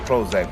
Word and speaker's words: Prohoezak: It's spelled Prohoezak, but pronounced Prozac. But the hoe is silent because the power's in the pimp.